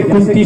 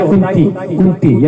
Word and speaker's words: कुंती: शास्त्री लोग बैठे हैं, जैसे कुंती शब्द होता है, कुंती, यदि बिंदी आप हटा नहीं पड़ेंगे ना कुंती में, तो कुंती का क्या बन जाएगा? देखो बिंदी मत लगाओ, देखो कितना गड़बड़ हो गया।